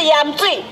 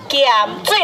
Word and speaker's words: 鹽水: 错了，不是盐水，是盐水了。